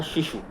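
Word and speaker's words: Xixu: उस एल्बम का नाम था शिशु जिसका जो इंग्लिश अगर हम प्रोनाउंसिएशन और उसका जो स्पेलिंग देखें वो एक्स से शुरू होता है।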